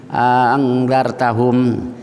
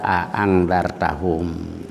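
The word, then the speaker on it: أأنذرتهم: Jadi yang pertama jelas a. Nah, ada alifnya jadi kan panjang earttahum gitulah. Jadi ee angartahum yang kedua yang jam yang kedua itu cuman dicolek dikit aja kayak tadi aangzartahum.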